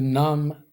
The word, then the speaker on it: numb: is a verb and notice that i don't pronounce the final b it's silent te nam and i